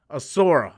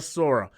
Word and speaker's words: Asura: Asura, not a Sora.